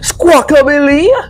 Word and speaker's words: Squawkabilly: Donphan, Articus, Camerupt, Squawk, bro, how do you pronounce this man name? Squawkably? Or is it Squawkabilly? Squawkabilly!